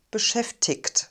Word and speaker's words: beschäftigt: b auf nicht die dann haben wir den kurzen vokal und das g spricht man standard sprachlich als ich laut es ist aber auch in ordnung beschäftigt zu sagen ich habe leider keine